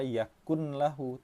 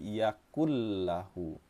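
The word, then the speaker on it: يَكُن لَّهُ: Ini hati-hati, nun yang bertemu dengan lam jangan dibaca yakun lahu tapi yakul lahu. Suara nun sukun ini kita idghamkan atau kita leburkan ke dalam huruf lam.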